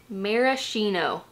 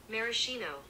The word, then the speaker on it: maraschino: So I need to know how to pronounce this. Maraschino. Hear this? Maraschino.